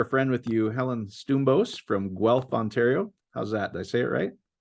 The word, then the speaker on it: Stoumbos: I'm excited to share a friend with you, Helen Stoumbos from Guelph, Ontario.